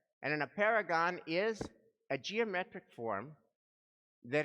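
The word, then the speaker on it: apeirogon: i r o g o n and in a paragon is a geometric form that has an infinity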